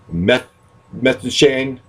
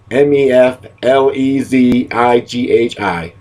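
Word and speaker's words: Keflezighi: I've written it down, but I don't know if I can pronounce his name right. Meb, M-E-B, Meflezighi, Meflezighi.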